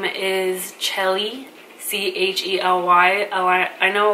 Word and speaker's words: Chely: my name is Shelley chal why I know like a lot of people will try to pronounce it like Shelley um no it's ch not SH so my first name